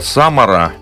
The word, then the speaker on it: Самара: Эпицентр находился недалеко от города Самара. Видимо, так правильно делать ударение.